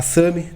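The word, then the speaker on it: SAMHI: A SAMI, também desde 1995, vem atuando aí no mercado de facilities.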